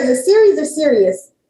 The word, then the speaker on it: Sirius: Is it series or serious? Sirius XM, like I'm serious about this. Okay, serious.